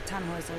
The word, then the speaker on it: Tannhäuser: We pronounce it Tannhäuser with an umlaut.